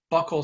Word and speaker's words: buccal: Buccal swabs, some people pronounce it buccal swabs, it's buccal swabs.